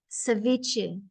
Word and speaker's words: ceviche: uh uh Roxanna Peru and how do I pronounce that Ceviche ceviche Ceviche is from Peru so two Ceviche